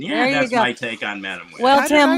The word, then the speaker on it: Madame: on the end yes so Madame pronounced the French way no e it's Madam so it's on the first so it is Madame you have you have